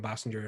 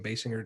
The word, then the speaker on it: Basinger: and nine and a half weeks with kim bassinger and kim basinger depending on how you want to pronounce it um he never stopped working in